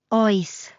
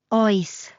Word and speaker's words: Oes: Oes. It even rhymes with choice.